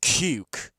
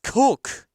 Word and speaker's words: Cook: There's no way that's pronounced cuke. It's cook. There's no way that's cuke.